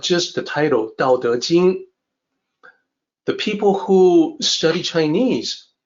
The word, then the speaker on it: Tao Te Ching: Even when it's spelled with a T and CH, it is still supposed to sound like Dao De Jing. The sound doesn't change.